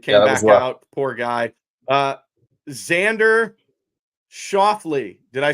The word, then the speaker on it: Xander Schauffele: Xander Schauffele.